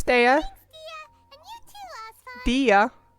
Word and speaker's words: Dea: Dia. It's not Dea, it's Dia.